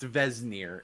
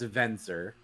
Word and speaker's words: Vesnir: And I would like to note it's not pronounced Vesnir. It's pronounced Venzer.